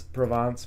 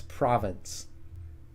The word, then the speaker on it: Provence: I used to pronounce Provence province.